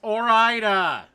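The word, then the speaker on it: Ore-Ida: It's Oraida. The E is silent.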